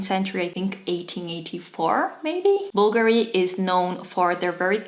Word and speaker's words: Bulgari: is crazy for Bulgari yes it is written with a V but you say Bulgari it's not Bulgari it's not Bulgari and it is not bufguri it's simply Bulgari an absolute symbol of